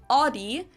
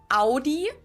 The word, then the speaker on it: Audi: Most Americans that I know pronounce it like I just said it, Audi. In German, we say Audi. Because I'm kind of closer than Audi.